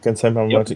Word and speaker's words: Kansai Yamamoto: So Kansai Yamamoto layouts. Good work. Was that it? Did I get it? Kansai Yamamoto, yeah.